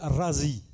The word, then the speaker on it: Razi: Celui qui habite Raï, on ne l'appelle pas Raï, ça ne va pas, on l'appelle Razi. Et voilà pourquoi Abou Bakr Razi, en fait, moi je savais dès le départ qu'il est de Raï.